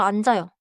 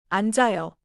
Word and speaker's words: 앉아요: 먼저 앉아요. 앉아요. 좋아요. 앉아요는 앉아요처럼이어서 발음하세요.